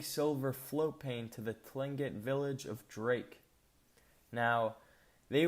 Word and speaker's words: Tlingit: minneapolis garvey said he was a tlingit indian pronounced clingit proudly with the clicking of his tongue as if saying klingkit he was built like